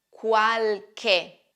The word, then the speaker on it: qualche: che che ricordate questo la lettera c quando è seguita dalla lettera h produce un suono duro qualche cos'è qualche qualche è un aggettivo indefinito e in quanto aggettivo accompagna sempre un sostantivo qualche significa non molti alcuni